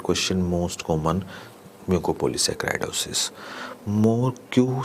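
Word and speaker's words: Morquio: most common muco polysaccharidosis more q syndrome type 4 yes i make i do pronounce it like that more iq more iq pronunciation means no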